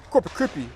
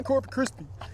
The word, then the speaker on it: Corpus Christi: He's like, "Oh yeah, we're uh Corpus Krispy." And I was like, "Wait, why do you say Corpus Christie?"